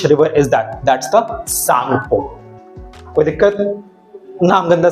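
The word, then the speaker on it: Tsangpo: क्या कर सकते हैं, इसमें टी जो है बेटा वो साइलेंट होता है एंड SANGPO, सांगपो इज the spelling of इट, ठीक है। तो टी सांगपो नहीं बोलेंगे हम इसको, टी साइलेंट सांगपो बोलेंगे।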